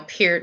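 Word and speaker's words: Peart: one of the people posting up about Neil pert when he died or Neil Pierce as it was as his name was actually pronounced you like Metallica Jen wow I don't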